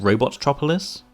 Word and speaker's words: Robotropolis: an appearance as the villains Hideout uh here pronounced robotropolis princess Sally makes a cameo appearance and the